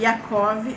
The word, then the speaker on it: Yaakov: Em hebraico é bonito, a pronúncia é Esav, que é o Esaú, e Yaakov é o Jacó.